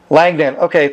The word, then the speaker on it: Langdon: when you started the interview you kind of mispronounced my last name well go ahead correct me on that langdon thanks for correcting me on that um um